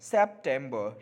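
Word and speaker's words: September: सेप्टेम्बर, र silent रहेगा, आप ध्यान रखेंगे, सेप्टेम्बर, सेप, सेप हो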